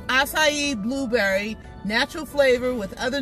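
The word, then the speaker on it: açaí: whatever but it always mixes yep it's actually pronounced acai so I found these in the Dollar Tree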